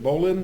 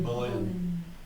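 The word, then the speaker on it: Boleyn: So Henry is going to divorce Catherine and then marry Anne, how do you pronounce it? Bolin. Bolin.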